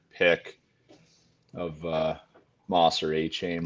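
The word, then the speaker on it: Achane: chin last week um it's like 4chan with an a for Zach Moss hn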